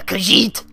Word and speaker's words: Khajiit: khajiit oh zippy oh you're how do you pronounce it a kazee a what a khajiit okay right okay okay let's go quick we